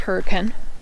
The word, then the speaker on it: Hurricane: It's pronounced Hurricane.